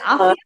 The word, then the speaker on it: Afia: Is it Afia? Yes, Afia. Yes.